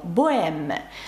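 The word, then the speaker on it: bohème: приклад також дам вам слово Богема французькою воно пишеться бое з літерою аш всередині але аж не вимовляється ніколи до речі про богему боем зверніть увагу як пишеться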